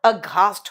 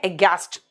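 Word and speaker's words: aghast: वैसे घोस्ट को देखकर अघास्ट हो जाते हैं, ऐसे याद रखो। लेकिन इसका प्रोनाउंसिएशन है एगैस्ट।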